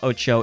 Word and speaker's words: OTXO: sure to check out oo if you haven't it's otxo by the way it it's not spelled like it sounds we had the lovely